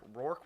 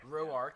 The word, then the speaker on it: Roark: 7th inning, Tanner Roark was it? Roark, yes.